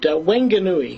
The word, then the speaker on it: Whanganui: Whanganui, New Zealand. Peter, how did I do on that pronunciation? Pretty good. Whanganui is the, I think, the proper pronunciation.